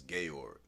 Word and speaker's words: Georg: have a crazy name my name is spelled g e o r g but in English is George but in German is gayor cuz my mom's have